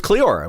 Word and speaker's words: Cleora: He didn't really consider anyone to be above him, but his wife was very, very influential, and her name was Cleora, which even kind of rhymes with Joanna.